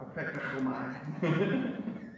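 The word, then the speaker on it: ἀπεκδέχομαι: Apek. Decomai, but you have to say it like you have a bug in your throat. A pectacomai.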